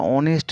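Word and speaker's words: honest: article লিখেছি 10 এরটা অনেস্ট ম্যান এইচ ও এন ইস টি এইচ টা consonant থাকলেও এখানে উচ্চারণ হচ্ছে ওডার শুরুতে অ তাই অ সাউন্ড হওয়ার জন্য এন হয়েছে অনেস্ট ম্যান এটা ব্যতিক্রমের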